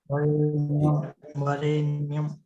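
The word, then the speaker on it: वरेण्यम्: वरेण्यम, वरेण्यम, अरण्यम हो गया, सही उच्चारण है। वरेण्यम।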